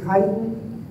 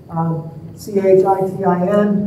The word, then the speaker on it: chitin: Another structure that's really interesting is chitin. C-H-I-T-I-N, that's how I pronounce it. I've heard other terms, but I'm going to go with chitin.